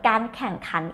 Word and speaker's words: การแข่งขัน: air ง แข่งการแข่ง this part แข่งขันแข่งขัน the word การแข่งขัน is mean competitionOkay, normally the word แข่ง or แข่งขัน is mean to race. But when you add the word การแข่งขัน is mean competition.